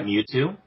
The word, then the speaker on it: Mewtwo: Yeah, Mewtwo.